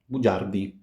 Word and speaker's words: bugiardi: Bugiardo, bugiardi. G followed by a E gives J. Again, G followed by a front vowel gives us J.